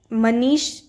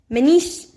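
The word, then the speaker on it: Mannich: आई सी मनीश reaction इसका pronounce आप लोग कुछ और बोलते होंगे तो मैं मनीष नहीं बोलना मैनी मनीश रिएक्शन ही बोलना है थोड़ा अजीब ही है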